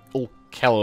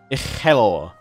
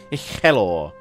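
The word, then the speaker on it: Uchelwyr: So I'm getting my going, you know, rolling the R's and all that.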